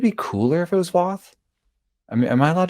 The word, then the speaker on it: Voth: But it's like Voth rhymes with goth is better than Voth rhymes with both.